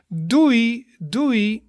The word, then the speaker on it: doei: So you would do that with friends or family or something, and that means like bye, bye, and you pronounce it as doei, doei.